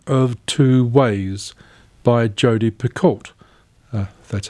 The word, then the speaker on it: Picoult: is the book of two ways by jodi picoult that's how you pronounce it another well-known writer dawn edelstein knows